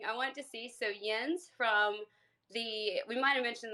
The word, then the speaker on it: Jens: If you could give him speaker, he said you can knock me down if you need Jens? to. Is it Jens? Yeah. Jens. Jens?